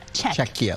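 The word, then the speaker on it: Czechia: Czecha like Czech before you reaction.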